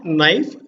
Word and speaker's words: knife: we are not accounting the k is silent so now knife knife means we are